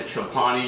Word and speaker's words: Chobani: Even before, when I had like the Chobani yogurt, I believe that's how you pronounce it.